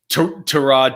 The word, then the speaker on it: Tyrod: tyrod taylor oh god tyrod taylor or i'm sorry to rod taylor because that's the way he likes his name pronounced right um i i